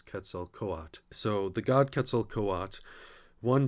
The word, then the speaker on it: Quetzalcoatl: And Quetzalcoatl, I believe the best pronunciation from what I've seen is Quetzalcoatl.